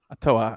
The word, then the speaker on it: Ottawa: don't know i'm trying to make you know ottawa bro ottawa i like uh they got some nice uh